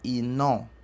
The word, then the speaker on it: iná: Então, iná pronuncia-se inon.